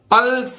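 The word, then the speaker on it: pulse: पल्स, अब पल्ज नहीं है, एस ई से यहां सा बना है, ठीक है। एस, वैसे भी ई अगर किसी शब्द के अंत में आता है तो उसका उच्चारण सामान्यतः नहीं किया जाता, इसलिए ई यहां बोलेगी नहीं।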